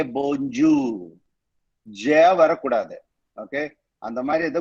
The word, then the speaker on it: bonjour: Bon na good. Jour na day in French.